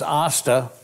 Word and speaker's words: Asta: resident alien who plays AA rhymes with pasta Sarah TOMCO she's the